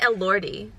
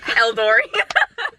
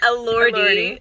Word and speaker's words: Elordi: a second, but I wonder how much Jacob Elordi. Yeah, I wonder how much, like, the character, or is it Elordi? I think it's Elordi. Oh shoot, Eldori. Jacob Elordi.